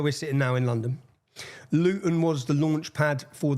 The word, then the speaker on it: Luton: And so anyone, if you don't understand Luton, see, I pronounced my T there. We don't pronounce our T's.